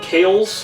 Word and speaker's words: Kiehl's: stuff right here guys this is k i HL K's I believe you pronounce it little jar I'll link